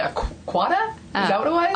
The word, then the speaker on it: quagga: I mean, one of the paintings in the show has pronouncing this correctly, a quagga? Is that what it was? A quagga, yeah.